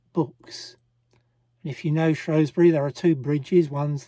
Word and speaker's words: Shrewsbury: half day trip to Shrosbury or as the locals say, Shrewsbury, I am told.